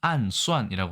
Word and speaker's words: 暗算: 대신 중국 현대 중국어 특히 현대 중국어의 암사는 아까 말씀드린 마와 같이 발음은 안수이라고 하고요.